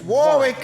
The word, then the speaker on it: Warwick: don't even know how to say it it's Warick is the official base all Detroit pimps okay